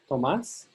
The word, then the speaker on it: Tomás: On this page, you can hear the pronunciation. You can compare with Tomás. So this is Tomás.